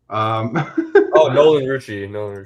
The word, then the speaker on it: Nolan Rucci: Pronouncing it correctly will be the problem. Nolan Rucci.